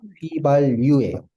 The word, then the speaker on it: 휘발유: 휘발 그리고 이후에요 가솔린입니다 자 휘발이란 단어와 그리고 유 아브라가 만났어요 그러면 발음은 휘발유에요 휘발유 휘발유가 됩니다 자 그러면 또 하나